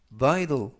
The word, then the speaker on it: vital: vital, vital, vital 이라고 발음하시면 되겠고요. 이때 알파벳 T는 부드럽게 트가 아니라 드, 그래서 vital 이라고 발음하시면 좋겠습니다.